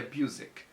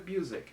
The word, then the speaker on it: Busiek: Pra você que quer saber como se pronuncia, Busiek. Eu procurei. Ah, você procurou? Eu botei lá, interview Kurt Busiek. E aí a pessoa fala, estamos aqui com Kurt Busiek. Eu falei, sabia, Busiek. Então é assim que se pronuncia o nome dele.